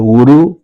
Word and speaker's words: gurú: Eh de algún gurú Claro, gurú gurú, eh g u r u con acento en la última u que escribe libros de derecho, ahora también escribiendo libros de justicia penal, opine en sentido contrario.